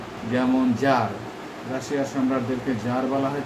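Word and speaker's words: czar: যেমন জার, রাশিয়ার সম্রাটদেরকে জার বলা হয়ে থাকে। সি জেড এ আর, সিটা সাইলেন্ট থাকে।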